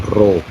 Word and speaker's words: rho: Esta letra griega se lee como Rho. O sea, esto es una letra griega y se lee, cuando usted lo pronuncia, usted lo pronuncia como Rho.